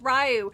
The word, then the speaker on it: Ryu: It's pronounced Ryu. No, the fuck it isn't!